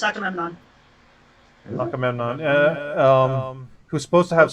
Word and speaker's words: Agamemnon: I'm so too mad to get it pronounced right. Akhenaten. No, it's Agamemnon.